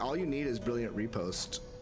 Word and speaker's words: riposte: I think all you need is Brilliant Repost. I know some people pronounce it riposte, but they're wrong.